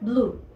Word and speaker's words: blue: Azul es muy fácil también porque lo único que debemos hacer es quitarle la E, omitir la E y nos queda blue.